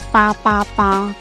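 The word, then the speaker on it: 八八八: eh 888 karena di kalau di dalam pronunciation dalam bahasa Mandarin itu PA PA PA Nah kalau misalnya kita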